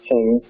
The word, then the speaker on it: Qing: necessarily, but there are pure Chinese cultivars, and Qing, which is the first one, it's pronounced Qing, is noteworthy in that it's very productive, and it produces a very sweet nut.